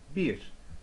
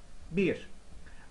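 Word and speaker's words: bir: one here number one we say in Turkish beers beers beers may be pronounced as you can help you remember but not exactly the same pronunciation just for association you know beer beer but actually we don't say beer we say beers all right so let's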